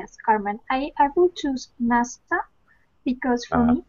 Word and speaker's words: NASA: Only NASA pronounced like a word.